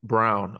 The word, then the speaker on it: Braun: control of the series Christian Brown I don't know why they say brown but I mean it's spelled like brown but Christian Braun Off the Bench played